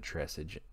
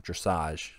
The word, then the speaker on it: dressage: If I were to put something below D tier, I would put dressage, or excuse me, I've been saying it wrong. Dressage. Dressage. That is how you pronounce it.